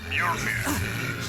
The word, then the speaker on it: Mjolnir: First off, it's pronounced Mjolnir.